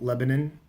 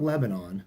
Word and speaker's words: Lebanon: how to pronounce it she says it's not Lebanon like in the Middle East it's not Lebanon it's Lebanon and you give prancin